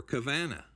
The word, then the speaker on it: Cavanaugh: or coven E or cavana it rhymes with Havana but it's got nothing to do with Havana and it's in variant